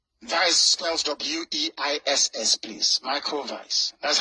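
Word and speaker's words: Weiss: spells w-e-i-s-s please micro Vice that's how you pronounce it because in German in Germanic language W is pronounced as V like the Volkswagen before um that's what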